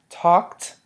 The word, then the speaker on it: talked: they're all pronounced differently so talked takes on the T the Ed takes on the T sound talked crawled takes on